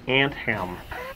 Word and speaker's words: Anthem: someone asked what's the name of the game, and I would like to clarify this, that it's actually Anthem, like pants, Like tiny pants on for an ant ants.